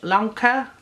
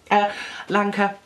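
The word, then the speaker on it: Lancre: So what they do is they move the whole of the town, the village, Lanka, rhymes with Lanka, 15 years into the future, so that the boy Tom John is grown up.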